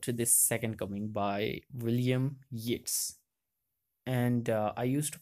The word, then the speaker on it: Yeats: Second Coming by William Yates and I used to pronounce it like Yeats but it's a yeah it's like gates okay it's a ballad